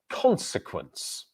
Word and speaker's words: consequence: this word, which is consequence. Consequence. Consequence. So the stressed syllable is on the first consequence. And then we have sequence. So are the unstressed vowels, the unstressed syllables in this word.